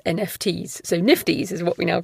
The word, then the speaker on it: NFTs: for copyright protection smart contracts digital scarcities and nifties which i have been told by several of you is how to pronounce nfts so nifties is what we now call them lots of